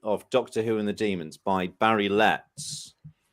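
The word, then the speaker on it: Dæmons: and the bond is an asterisk at the bottom says pronounced demons d double e m o n s that's right so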